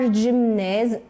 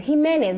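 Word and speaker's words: Jimenez: Floyd today CNN's Omar jimz jimz himz that's how you say it right himz was on the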